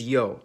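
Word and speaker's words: Ё: Its name is Yo, and it makes the sound Yo, Yon, or which, if you talk fast enough, basically all sound the same.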